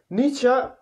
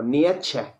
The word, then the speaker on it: Nietzsche: Nietzsche, se pronuncia Nietzsche, pero normalmente decimos o Nietzsche, o Nietzsche, ¿no? Pero es Nietzsche.